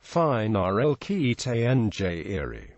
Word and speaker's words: phenylketonuria: It is pronounced phenylketonuria, FNL, NAL, 2.